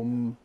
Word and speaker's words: Om: Whenever Om is pronounced, linguistically, silence always follows the M until the next consonant comes.